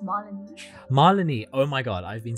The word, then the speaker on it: Malini: maleeni thank you so much for joining me on the podcast it is so cool to have you with me awesome to be here it's pronounced one Molony oh my god I've been saying it wrong